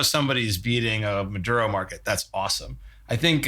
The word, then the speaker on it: Maduro: And I mean, we saw it with the Mandura like, am I pronouncing that right? With the Venezuelan um there was in what? Maduro.